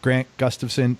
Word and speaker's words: Grant Gustafson: It's Grant Gustafson. I pronounced your name right?